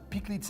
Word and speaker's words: pikliz: Explain what Pikliz is. Am I saying it right? Pikliz? Pikliz. With the accent. Okay, Pikliz. Yeah, you need the French accent.